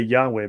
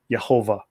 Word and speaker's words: Yahweh: We say Yahweh, but I believe the correct pronunciation is Yehovah.